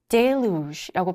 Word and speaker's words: deluge: deluge라고 발음이 되고요.